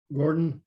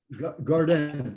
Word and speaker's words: Gordon: And then I lived in Quebec for 4.5 years, and they can't pronounce the D at the end of a word.